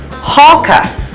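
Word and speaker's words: hákarl: paper here because I can remember how to pronounce it it's hawka and it's in Iceland and it is a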